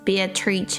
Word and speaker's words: Beatrice: Oh, in this case, it is Italian pronunciation, so it is Beatrice. The Italian way.